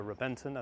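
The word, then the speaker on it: Reventón: And if we go back to 2007, perhaps even today, the most iconic one-off car, which was the Reventon or the Reventon as it's pronounced, was introduced and it looked like a F22 Raptor on the road.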